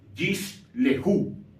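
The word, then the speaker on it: יִשְׁלְחוּ: Entonces, en este caso, la primera, que sería la de color morado, no se leería, la segunda, la de color verde, sí se va a leer. Por eso esta palabra se pronunciaría de la siguiente manera: Yish lehu.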